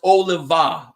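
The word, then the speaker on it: Olave: for letting me know it's pronounced oliva oliva okay how do you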